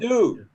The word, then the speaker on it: Chengdu: What's the pronouncing? Chengdu? He has a very heavy accent. Chengdu.